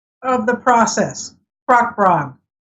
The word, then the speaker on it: bragd: name of the process braack braack bra we're all ya the D is not pronounced so in there I